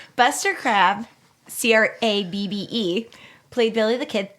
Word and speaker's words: Crabbe: than the legendary Buster Crabbe. Just kidding. Nobody knows who that is. Do you? No. Okay. No. Spelled like a regular crab? Nope. C-R-A-B. Like a French crab. Buster Crabbe, C-R-A-B-B-E, played Billy the